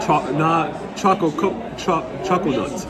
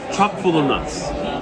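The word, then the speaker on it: Chock full o'Nuts: Not choco nuts. No, it's choco nuts. It's hard to pronounce. Chock full of nuts.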